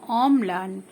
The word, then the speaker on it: অম্লান: দেখো অম্লান, তাহলে অম আগে অম উচ্চারণ করতে পারো, তারপরে লয়াকার দন্ত ন লান, অম লান এরকম উচ্চারণ করতে পারো।